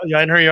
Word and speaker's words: einherjar: Einherji Einherjar are level level 10.